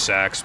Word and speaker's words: CeX: Yeah, I know it's pronounced sex, but, like, I ain't fucking calling it that.